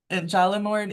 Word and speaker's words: Jollimord: In the village of is it Hallamord or Jollamord, how do you pronounce that Victoria Sanford: Jollimord, in the village of Jollimord, a woman who survived the violence speaks a haunting truth.